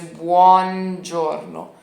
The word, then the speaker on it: buongiorno: o o tá bom a gente vai tirar o o aqui do meio então não vai ser buo mas vai ser Borno Borno Borno Borno bom pronúncia tá bom Ok entendi bonjorno tá legal mas e